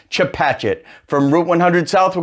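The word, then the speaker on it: Chepachet: gloucester known as to Patchett no it's not pronounced Chapa chez it's pronounced chip hatchet from route 100 south we're going to continue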